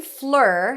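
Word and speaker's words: Fleur: in go stood alone the name Flur has the IR as in stir sound in American English of course in French that's a different pronunciation also I read the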